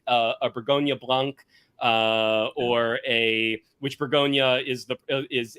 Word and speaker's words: Bourgogne: That's not the actual name of the place. Right. It's Bourgogne, which apparently once upon a time, because we're Americans, we were like, fuck that.